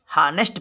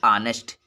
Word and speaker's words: honest: तो अगर यच किसी वावेल के पहले आता है तो यच का उच्चारण नहीं होता है। वैसे तो लिखा है हानेस्ट, यच से है होता है, हानेस्ट पढ़ा जाएगा, लेकिन यच